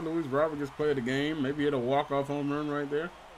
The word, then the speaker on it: Luis Robert: And yes, I know I've been saying Luis Robert for Luis Robert. Honestly, I've literally been pronouncing it wrong because anytime I'm watching